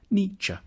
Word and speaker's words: Nietzsche: to pronounce his name the first bit should sound like me the second like JA Nietzsche then we need to